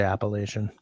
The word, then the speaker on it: Appalachian: That's how I learned it. Third syllable. I don't think it's necessarily wrong to say Appalachian. I mean, a lot of people do. Third syllable lay, yeah.